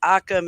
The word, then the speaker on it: Occam: It's just when you mispronounce Occam's razor, it's Occam, and then when you were calling it something else, when it's Odinism, and that was frustrating me.